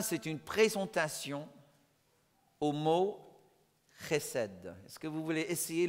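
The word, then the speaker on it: חסד: Et le C-H, ben, il faut savoir parler un peu hébreu ou arabe, parce que c'est là-dedans, quoi.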